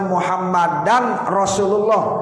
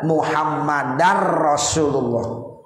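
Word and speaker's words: محمدا رسول الله: Jadi bacanya bagaimana? Wa asyhadu anna muhammadar rasulullah. Tanwin nggak usah dibaca lagi tuh, muhammadan rasulullah nggak boleh. Karena kalau tanwin ada ra, itu berarti ya masuk jadi idgham bila gunnah.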